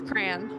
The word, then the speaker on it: crayon: It says with one syllable rhymes with man. With two syllables sounds like crayon. With two syllables, the second syllable rhymes with dawn.